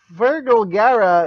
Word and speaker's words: Fergal Gara: of cool you're welcome even though last week fergal gara is that how you pronounce that yep that's all right promised excited